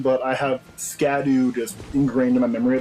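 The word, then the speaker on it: Scadutree: fragment it's actually pronounced Shadow tree apparently it's an Old English way of saying it but I have scadu just ingrained in my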